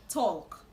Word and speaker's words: talk: Talk. The L in this word is silent. So the right to pronounce this word is talk.